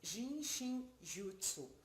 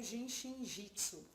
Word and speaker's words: Jin Shin Jyutsu: que significa esse nome jin shin jyutsu ou genjitsu tanto fácil como a gente pronuncia é um nome um pouco difícil de pronunciar é genjitsu significa a